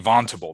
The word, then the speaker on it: Vontobel: of signed agreements with we think it's pronounced Vontobel, but it could be Vontable. There was somebody in our office the other day who called it Vontable, but I'm going to call it Vontobel.